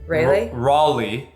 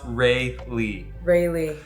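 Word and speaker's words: Rayleigh: is pronounced Raleigh. Raleigh. No, I'm just kidding. It's pronounced Rayley.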